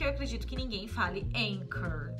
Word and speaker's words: Anchor: E âncora, a pronúncia correta em inglês é anchor. Anchor.